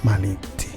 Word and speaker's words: Malintzin: se llama Marina y los indígenas por no poder pronunciar la r le llaman malinzi y ahora malinzi le